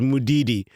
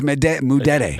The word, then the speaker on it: Mudede: The only one you can't use is Mudidi. that's what I say. What? Mudidi. So it's Mudede. Mudede is the American pronunciation.